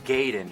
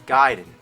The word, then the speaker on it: Gaiden: We're talking Ninja Gaiden. Everyone always said Ninja Gaiden, but I know for a fact it's Gaiden.